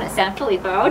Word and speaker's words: SanFilippo: Today we are at the California Drum Shop in Bethlehem, and sitting next to me is the owner, John SanFilippo. Did I pronounce that correctly? Perfect.